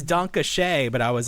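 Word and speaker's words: danke: and I was like how do you say the word D A N ke German for thank you dona. I was like is it dank? I know it's donkey but I was like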